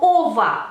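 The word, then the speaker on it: -ого: cava va a tener la termin ova se escribe como ogo Pero se escucha Como ova ova catava por ejemplo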